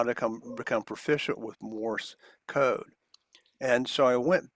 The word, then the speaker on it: Morse: maybe become profession with Morse and it it's one syllable that's one of the picky things I have some many people call it Morris like Morris the Cat but it's moris m